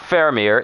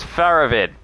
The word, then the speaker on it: Faravid: his name is fleurovir it's not faramir it is faravid the names are just